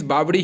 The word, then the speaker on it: बावड़ी: Means बावड़ी ही उच्चारण होता है। बावली भी वहां पर मिल रहा है।